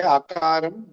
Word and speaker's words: Akaram: When I say Akaram, don't misunderstand the letter A. In Sanskrit, we don't say just A, we say Akaram.